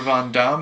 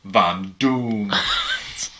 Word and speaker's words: Von Doom: all right it's like this is pronounced van damme it's like no van doom my name is doom